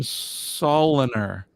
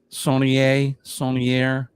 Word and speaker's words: Saunier: I thought you pronounced your name Soliner. It's actually it's Saunier if you want to get French on me. Saunier. That's how it's pronounced in French.